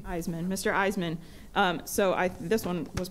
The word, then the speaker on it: Eiseman: Eisman. Eisman.